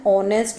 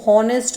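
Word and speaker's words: honest: कई पर्सन्स इसको हॉनेस्ट बोलते हैं, दिस इज रॉन्ग प्रोनाउंसिएशन, ये ऑनेस्ट है।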